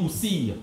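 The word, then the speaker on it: Ousir: Et là, effectivement, on comprend pourquoi on dit Oussir. Parce que ici, le nom est écrit phonétiquement. Le OU est assumé par le poussin de caille et on retrouve donc ce signe.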